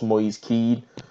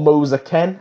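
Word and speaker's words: Kean: that is of course Moyes key or Moser Ken as I should pronounce correctly well Ken is set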